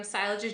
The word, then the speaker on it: Sailaja: Am I pronouncing it right? Sailaja. Sailaja. Yeah, Sailaja.